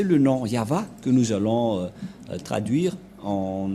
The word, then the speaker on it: Yahvah: au milieu Yod c'est l'alphabet hébreu qui est prononcé yava et dans Genèse 2133